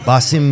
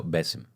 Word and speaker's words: Bassem: I will sing Basim YF yes that's how you say it Basim no bessim Bim bessim a softer bessim oh bessim Bim yeah